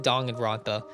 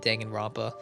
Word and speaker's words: Danganronpa: about danganronpa itself or they call it dong and ronpa i've i've never liked calling it dong and rampa i've always called it danganronpa i don't really care that's how i just like that pronunciation better and i was like